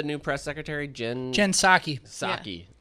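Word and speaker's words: Psaki: press secretary jen jensaki saki oh that's what it is with the p at the front yeah that p is silent get that p out of here yeah like pterodactyl yeah i don't want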